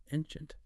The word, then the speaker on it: ancient: Ancient also has the stress on the first syllable, but that C in the middle sounds like she. Ancient bit like ocean.